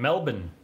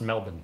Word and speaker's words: Melbourne: Hello, hello, Mexico City and Melbourne. Apparently it's pronounced Melbourne.